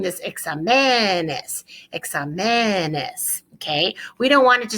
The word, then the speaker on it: exámenes: So muchos exámenes. Muchos exámenes. Now, let's look at the word exámenes for a second and notice the accent on the ah.